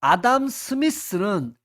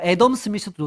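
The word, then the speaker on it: Adam Smith: 자 아담 스미스는 뭐 에덤 스미스도 좋습니다. 발음상이니까 얘는 이기적이다.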